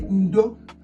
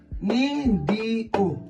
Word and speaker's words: ndo: When you do something to somebody and you say sorry in Igbo you will say ndo. N d o. Ndo. N d o. Ndo. N d o. Ndo.